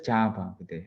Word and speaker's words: Chapa: So Chapa, this name is pronounced as Chapa, okay?